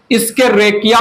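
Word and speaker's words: Escherichia: सो extensive study जिस bacteria का हुआ वो है इस्केरेकिया, इस्केरेकिया प्रोनाउंसिएशन है ESCHE, इस्केरेकिया, ESCHE, इस्केरेचिया coli, E coli bacillus bacteria है।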